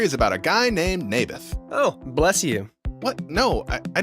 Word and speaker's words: Naboth: Mayberf. I think you're saying it wrong. His name was Naboth.